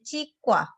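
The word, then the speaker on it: 치과: Tulisannya cikwa, tetapi membacanya cikwa.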